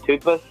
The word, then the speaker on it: tulpa: How do you pronounce it? Tulpa.